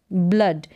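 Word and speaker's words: blood: है ब्ल ऑक ब्लॉक ब्ल अड ब्लड यानी डबल ओ को अ नाउंस करेंगे और डी को ड ब्लड तो इस तरीके से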